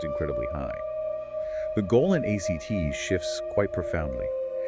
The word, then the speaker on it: ACT: This is where therapies like acceptance and commitment therapy, ACT, come in. Right. Exactly. ACT, pronounced as the word act, emerged partly in response